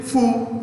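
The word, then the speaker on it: Phú: throng t r o n g throng vin fu throng it's our dictatorship so vietnam cambodia these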